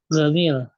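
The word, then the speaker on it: جميل: Nomor 2, orang Mesir melafalkan huruf J dengan huruf G. Contoh Gamil.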